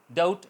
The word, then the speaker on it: doubt: For example डाउट, date, डाउट शक, DOUBT sound है मगर B नहीं बोला जा रहा, DOUT डाउट। इस तरह डेट है, डेबिट नहीं होगा, date, DET date, B silent रहेगा।